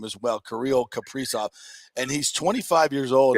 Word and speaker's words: Kirill Kaprizov: And I had to ask my man Nick here how to pronounce Kaprizov's name as well, Kirill Kaprizov.